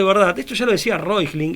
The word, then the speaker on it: Reuchlin: discípulo de Johannes Reuchlin, que se escribe Reuchlin, se lo pronunciaría así en castellano, que ellos decían, ¿por